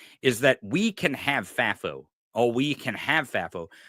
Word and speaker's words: FAFO: So can I go to one of your points there, because I it's not that I don't want FAFO.